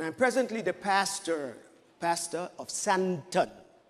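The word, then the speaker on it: Sandton: And I'm presently the pastor of Santon. It's a D, but the T is silent. Santon.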